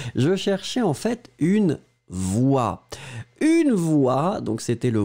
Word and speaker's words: voix: Alors effectivement, hein, effectivement ici, une voix, vous l'écrivez V-O-I-X, une voix, et donc vous les prononcez exactement de la même façon que le mot précédent.